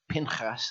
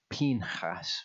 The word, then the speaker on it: Pinchas: foreign portion and that is how to pronounce it I've been saying pinchas I've only just about got it got to